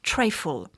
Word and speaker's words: trifle: de la charlotte c'est le treyfall ça s'écrit trifle voilà mais le treyfall à